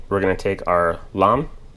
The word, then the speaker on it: lame: at that point we're going to take our lamb it's spelled lame uh like a lot of you